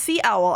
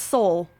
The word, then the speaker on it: Seoul: It looks like it should be pronounced sea owl. I'm pretty sure it's Seoul. But like, it's slightly different in like proper Korean pronunciation. It's like it uses a vowel that doesn't exist in English.